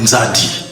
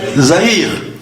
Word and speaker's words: Nzadi: C'est un peu comme quand les Portugais sont arrivés chez nous, ils ont demandé comment vous appelez le fleuve? Nzadi. Ils n'ont pas pu prononcer Nzadi, ils ont dit Zahir.